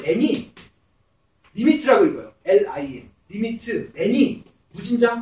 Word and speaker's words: lim: n이 있는데 그 n이 리미트라고 읽어요.